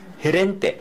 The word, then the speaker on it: Gerente: Gerente. Gerente. G자도 마찬가지예요. 원래 기역 발음이지만 뒤에 모음이 E자나 I자가 나오게 되면은 히읗 발음을 하셔야 되고, 그 다음에 G자, E자,